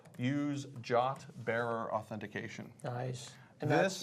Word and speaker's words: JWT: And are you pronouncing that JOT, like J-O-T? J-O-T is the pronunciation of JWT. Exactly. Right, yeah, that's the official. It even says it in the spec.